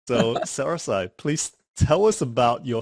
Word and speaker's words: SaraSai: Today on Founders Go Naked, we have a very, very special guest, which is SaraSai. Correct me if I'm pronouncing that That's incorrectly, SaraSai.